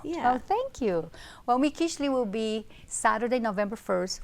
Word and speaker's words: Mikiztli: on to talk about, MIKIZTLI.